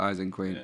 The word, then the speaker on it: Ising Queen: ISING Queen, Ising Queen, It's like Isengard for Isengard. Ising Queen.